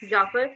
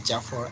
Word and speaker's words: Jafar: Jaffer. Am I right? Yeah, your pronunciation is right. My name is Jafar, and call by name, it's okay for me.